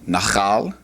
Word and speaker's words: nachal: For wadi, or river, the word is nachal. Nachal. Putting the accent on the first.